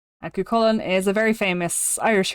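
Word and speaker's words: Cú Chulainn: So, it's not uh Choo Choo Lane. It's not It's not this. That's That That's wrong. It is CN. That's how you pronounce it. Kolen. Now, Kullen is a very famous Irish hero, Irish legend.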